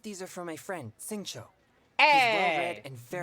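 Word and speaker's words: Xingqiu: Shingcho? But that's a U. Where the hell did you pull the O sound out from? Your ass? I don't think that's right.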